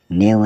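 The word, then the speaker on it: knave: नाइफ मतलब चाकू के एन ए वी ई नेव मतलब गुलाम के एन ओ डब्लू नव मतलब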